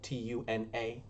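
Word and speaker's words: Túna: it's called tyrion upon tuna it is spelled t-u-n-a um but i put more emphasis because i think it's very weird that it is pronounced tuna um so i just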